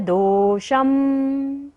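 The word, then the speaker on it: दोषं: आस्तान तव स्तवन मस्त समस्त दोषम। श के ऊपर जो बिंदी है उसका उच्चारण क्या होगा, म।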